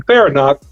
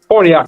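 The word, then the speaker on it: Farniok: Are you depending on Farinack? Excuse me for mispronouncing his name. But you're depending on those guys to play Forniak, thank you.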